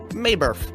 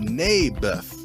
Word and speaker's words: Naboth: that's what i said mayberff i think you're saying it wrong his name was neybeth ah bless you never